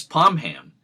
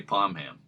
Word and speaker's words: Pomham: pronounced it palm hambar hearing that the traditional pronunciation in the East Providence area is palm ham but I've also heard many people in the